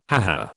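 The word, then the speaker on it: ห้า: each language of course has different ways of expressing and typing this aha sound for instance Spanish will be je jure in Thailand the number 5 is pronounced ha so they will often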